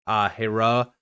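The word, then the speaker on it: Hiero: Hero, it's apparently pronounced Hera, but I'm going to call it Hero.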